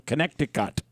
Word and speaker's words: Connecticut: family Dynamics you're from Connecticut yes right thank you for pronouncing all the t's uh well that's how